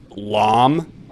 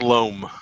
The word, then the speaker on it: loam: It's pronounced loam. Would you say that loam is absurd? To rhyme with dome.